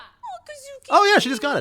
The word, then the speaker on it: Kuzuki: I knew you were the most intense person Kazuki, I've ever Kuzuki. met. Oh, I guess I had his name wrong either way.